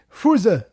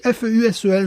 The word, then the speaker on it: Fusel: le goût d'alcool pourri qui se dit Fuse en allemand, je maîtrise l'allemand de plus en plus. Ça s'écrit, c'est dommage, c'est mieux quand ça s'écrit en allemand, ça s'écrit F-U-S-E-L. J'aurais préféré dire Fusel, c'est plus joli Fusel que Fuse.